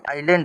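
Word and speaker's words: island: तो ये आई यहां पर लैंड आइलैंड हो जाएगा।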